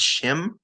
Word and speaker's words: shim: old codexes where uh they said the proper pronunciation for slesh isn't he or she it's shim so sh h i m shim this is probably the